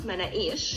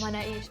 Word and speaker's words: Manakish: Well, we pronounce it Manakish. Manakish.